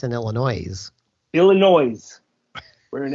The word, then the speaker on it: Illinois: yeah I always anybody anytime someone says Illinois I'm like the S is silent like you should be